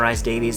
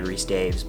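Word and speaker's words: Rhys-Davies: John Rice Davies, that's how I pronounce it. I know it's probably Reese Daves, but Sala, avoid bad dates.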